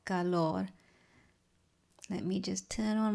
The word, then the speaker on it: Calor: It's a piece called Calor or Calor. My Spanish is not very good, but it's spelled C-A-L-O-R and it means heat.